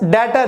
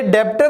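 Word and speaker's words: debtor: Guys डेटर, ये डेप्टर नहीं होता, बी साइलेंट है, क्या होता है, डेटर।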